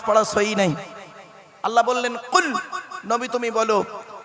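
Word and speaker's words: قل: বলছে কুল কি বললাম ভালো করে উচ্চারণ করো কুল কুল নয় কয় হস উলা কুল কয় বা হস উলা কুল দুটো কুলের মধ্যে পার্থক্য আছে থেকে কুল মানে বলো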